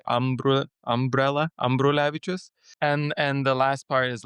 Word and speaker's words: Ambrulevičius: So the first part of it is basically like an umbrella. So it's Ambrulevicius. You just say umbrella, Ambrulevicius.